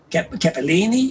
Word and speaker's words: Capelin: not quite, which is Capellini in Italian or Capellin in Venetian. But the interesting thing about Venetian is that it has two letter L's, one of which is silent.